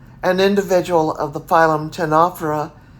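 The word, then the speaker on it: ctenophora: individual of the phylum 10 opera is a 1004 you know spelled c t e n o p h so what do you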